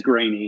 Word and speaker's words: Greaney: when people mispronounce it but it is grainy yeah okay sounds good